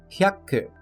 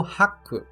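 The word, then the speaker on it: ひゃく: número 100, temos a sua principal, que é hyaku. Hyaku, sendo o ya contraído com o ri, se tornando rya, e não hiya. Outro erro bastante comum nessa pronúncia é que muitos acabam pronunciando como haku, principalmente quando vamos falar o valor em iene,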